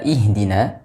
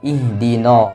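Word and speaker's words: اهدنا: na perlu diperhatikan hati-hati pada pengucapan huruf nun di sini seringkali terbaca dengan tebal ihdin karena ada huruf Shad yang tebal setelahnya tapi dibaca dengan vokal na ih pada kata ada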